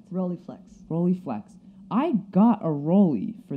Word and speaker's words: Rolleiflex: Vivian's camera is a, I'm going to mispronounce this, a Rolei viewfinder, is that correct? Rolleiflex.